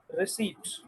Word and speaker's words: receipt: याद रखिएगा, ये जो आखिरी वर्ड लिखा हुआ है RECEIPT, इसमें P साइलेंट होता है, बस ये याद रखना, P इज साइलेंट, राइट। इसको रिसीट पढ़ते हैं, अंग्रेजी में रसीद कहते हैं ना उसको सॉरी उर्दू में हम उसको रसीद कहते हैं ना, अंग्रेजी में रिसीट कहेंगे उसको, ठीक हो गया।